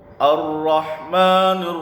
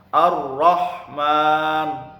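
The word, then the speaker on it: الرحمن: Ar-Rahman, haknya hak tipis. Ar-Rahman, bukan Ar-Rahman, salah. Yang benar Ar-Rahman, hanya hak tipis.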